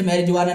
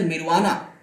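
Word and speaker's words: marijuana: जैसे कि मैरिजुआना, इसे मैरिजुआना नहीं बोलते, मैं सिर्फ पढ़ के बता रहा हूं, इट इज मिरवाना। ओके, तो यहां पर जे नहीं होता, साइलेंट है।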